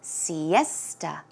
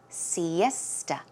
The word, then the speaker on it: siesta: Pronunciation is siesta, siesta. So it's more of a T-U-H, sound, siesta.